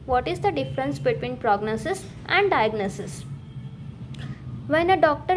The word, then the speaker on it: prognosis: The main stress is on the second syllable. So prognosis. I guessed as much, but tell me, what is the difference between prognosis and diagnosis?